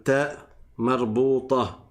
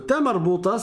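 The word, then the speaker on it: تاء مربوطة: Et cette lettre, on appelle le ta marbouta. Le ta marbouta, c'est quoi? C'est un ta. Donc, ça se prononce habituellement comme le ta que vous avez appris dans le premier cours, qui est celui-là.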